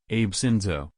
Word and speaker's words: Abe Shinzo: Shinzo Abe Shinzo, pronounced Abe Shinzo.